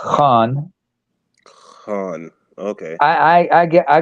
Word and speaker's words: Khan: there the boss there Tony Khan by the way it's pronounced Han okay I I get